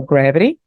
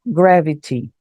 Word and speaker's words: gravity: pouco mais diferente, né, o T normalmente no som britânico, na pronúncia britânica, o T continua tendo o som de T, então ele pode pronunciar tanto como gravity ou gravity. Tanto faz, as duas pronúncias estão corretas. Lembrando que a pronúncia do americano, do britânico, tem essa diferenciação, mas os dois estão certos.